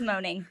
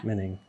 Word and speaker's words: Moening: I thought it was moaning forever. So, the O is silent. yeah. Yep. So it should be two E's there. It for sure. Okay. Cool. Yeah. Moening. Yeah. Menning.